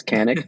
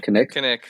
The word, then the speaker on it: Kanik: say my name properly it's Canik not connected um but um so